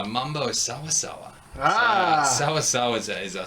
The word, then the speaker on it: sawasawa: I'm going to probably mispronounce this next one. But Mambo Sasawara? Mambo Sawasawa.